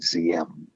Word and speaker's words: Diem: His middle name is D-I-N-H, Din, and the first name is D-I-E-M, spelled like, or pronounced like Z-M.